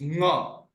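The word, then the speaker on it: ङ: Anga, it is not anga. It's nga. It's a nasal sound. No. So we call it as nga. Through nostrils, through nose, we pronounce that letter.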